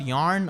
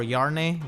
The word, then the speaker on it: Yarne: Haven't really got Yarne or Yarne, whichever way you want to pronounce, and Nah.